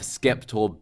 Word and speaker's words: Skeptor: Finally, we have Skeptor Bird. Make sure you pronounce that with that hard K.